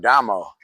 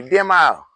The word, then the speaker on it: Damo: He had a son named Lil Fred, and Lil Fred, for some reason, couldn't pronounce my name, Damo. He used to always call me Demo.